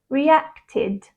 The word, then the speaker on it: reacted: d as in claimed and ID as in reacted but why is this